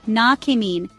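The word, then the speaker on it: näkemiin: Nakamin is pronounced na-kemin with the emphasis on the first syllable.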